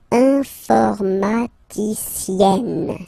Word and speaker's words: informaticienne: And you get the sound informaticienne. Sienne. Remember, and then double N, or then it could be double L, or double consonant here. You open your E, so it's E. Informaticienne.